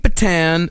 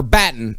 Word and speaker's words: Batten: So Kate Batten, or Batten, as is actually pronounced, she was the lead investigator, and she already knew by 1:30 p.m.